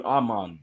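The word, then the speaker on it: Armand: and he kept saying don't pronounce the d on Arman right and I just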